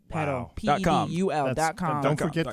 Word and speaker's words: Pedul: Yes, pedal. Yes, pedal spelled P-E-D-U-L. And why do we spell it like that, Chiza?